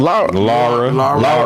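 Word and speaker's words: Lyra: Laura.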